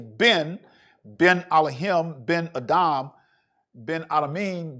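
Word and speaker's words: בן: face but son in in hebrew son is been been so when when you speak in hebrew and you hear them say ben ben elohim been adam ben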